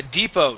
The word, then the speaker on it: depot: Now remember you guys this is the T is silent. Okay. If you ask if you ask for the bus depot you will get a strange look. All right. Uh that's why um that's why I would uh I would stay away from using the word depot unless you're absolutely positive you are going to not pronounce the T.